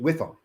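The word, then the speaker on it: WIIFM: FM w i FM and I always pronounce it whiff them what's the whiff them what's in it for me and they're looking for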